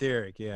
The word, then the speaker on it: Etheric: Is that how you pronounce it? Etheric, yeah.